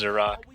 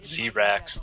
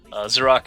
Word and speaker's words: Xerak: I've never actually heard it pronounced before, but I think it's pronounced Xerak. I always pronounce it Xerax, though. I don't know. In my head I always say Xerax, but I'm pretty sure it's Xerak. But yeah, it's a PvT